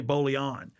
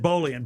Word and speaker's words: Bolian: I think I used to say Bolon, but it's Bolian.